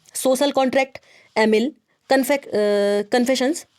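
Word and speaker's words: Émile: ठीक है, तो देखिए याद रखिएगा, इनकी बड़ी फेमस किताब है सोशल कॉन्ट्रैक्ट, और एमिल तो ज़्यादा ही इनकी, एमाइल भी इसको इंग्लिश में प्रोनाउंस करते हैं, बहुत फेमस किताब इनकी है, ठीक है।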